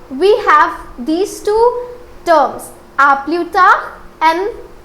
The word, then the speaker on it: à plus tard: Now let's try to put emphasis on its pronunciation. So it is à plus tard.